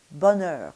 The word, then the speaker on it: bonheur: So for bonheur, the outside of your mouth, the lip position for both of those sounds is going to be the very same, bonheur. It's not going to change.